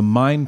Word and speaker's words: Main: start a coalition called the mine project which is the kind of German pronunciation what we might say main project but it's it's the